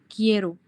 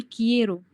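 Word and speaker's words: quiero: كيرو مش كيرو. احنا لو ما حطيناش الاي هتبقى كيرو، لا احنا بنقول كييرو. اخده بالك من الفرق بينهم؟ البنوتة اللي كانت بتسألني. ايوه اخده بالك من الفرق في النطق؟ تمام. فمع يو بتبقى كييرو.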